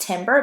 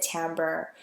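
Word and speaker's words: timbre: pitch duration volume and tamber I know that looks like it's it uh it it should be pronounced Timber but actually you pronounce it tamber I know this because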